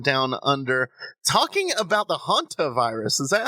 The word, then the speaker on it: hantavirus: Sean Graham from Down Under talking about the hunter virus is that how you pronounce it yeah hantavirus uh the hantaviruses are named for a um